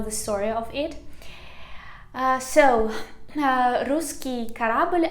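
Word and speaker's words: русский корабль: story of it so ruski karabelle i pronounce it a little bit in a russian manner because it said the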